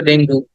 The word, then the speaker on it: Dengue: আমরা এটাকে অনেক ভুল বলি এটা বাংলায় শব্দটা ডেঙ্গু কিন্তু ইংরেজিতে বললে বলতে হবে ডেঙ্গি ডেঙ্গি ডেঙ্গি হ্যাঁ ডেঙ্গু বাংলায় বলা যাবে কিন্তু